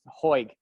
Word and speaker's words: Hoig: The pronunciation of their last name is Hoig.